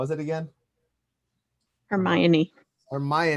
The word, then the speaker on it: Hermione: dude he uh serena williams had ashley um hermione granger huh her mom i never knew